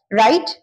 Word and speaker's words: write: राइट, W, road, W silent रहता है, रिटन।